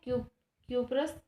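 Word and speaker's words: cuprous: With acid copper chloride, acid हम यूज करेंगे यहाँ पे कॉपर क्लोराइड, एसिड यूज करेंगे कॉपरस क्लोराइड, इसको प्रोनाउंसिएट कर सकते हैं क्यूपरस क्लोराइड।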